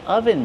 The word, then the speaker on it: oven: Ah, I'm wearing an oven mitt. This is an oven mitt. How do we pronounce oven mitt? Oven. Use a closed uh sound like up and cut. Uh u oven. Oven.